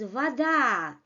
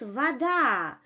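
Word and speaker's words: вода: in Russian which is Vada you see the name the second the second vowel is stressed Vada and this first vowel in the first syllable loses its quality it's not a clear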